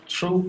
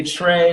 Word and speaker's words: Trew: because true I mean a lot of people say Trey they'd be like hey Trey I guess cause I spell it t-r-e-w but I don't understand how that looks like Trey Drew is spelled d-r-e-w so true yeah that's how I